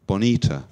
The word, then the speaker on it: Bonita: Yeah, so we're stressing the second syllable in the middle. Bonita.